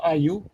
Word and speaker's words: Ayew: talked about, Andre Ayew, they say Ayew, they pronounce Ayew.